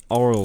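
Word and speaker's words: aural: It's pronounced oral skills, not oral skills.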